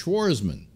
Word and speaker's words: Schwarzman: Plus, nobody ever spells it right. They spell it with a T and one N, and it's actually no T and two N's. It's Schwarzman.